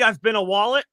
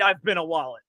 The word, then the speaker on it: ibn al-Walid: It's weird how it's spelled. It's Khalid, and then it's IBNAL-WALID. Yeah, I've been a wallet. I've been a wallet. I think I'm saying that right.